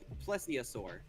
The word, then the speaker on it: plesiosaur: But there's like multiple different ones because like they're all in the classification of plesiosaur.